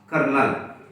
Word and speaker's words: colonel: We should pronounce kernel.